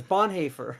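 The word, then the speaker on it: Bonhoeffer: that Bon haer is I'm like no it's Bon haer like it's like it's like the person that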